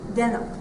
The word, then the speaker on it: Denham: Denham. Okay. It's like jeans. Yeah. D-E-N-H-A-M. O-H. Okay. But you say it like your jeans.